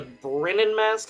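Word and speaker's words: Bremen Mask: is a lifesaver uh the Brennan mask I believe is how it's pronounced immediate asked here I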